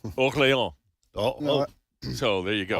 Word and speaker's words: Orléans: pronounce the S. Orléans.